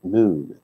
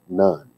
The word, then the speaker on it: Nun: named noon and yes nun is pronounced noon not none son of nine he